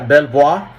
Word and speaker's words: Belvoir: Si ven ustedes ahí en página 7 donde dice Belvoir, realmente se pronuncia Belvoir. Es un castillo. Pongan por favor el castillo de Belvoir.